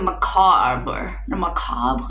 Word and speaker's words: macabre: weird king of the macabre. That's how you say it in French, and I know that's where the word comes from, but like, king of the macabre.